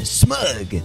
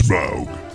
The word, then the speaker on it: Smaug: And I call this one smug. Rhymes with Grug. It's Smaug.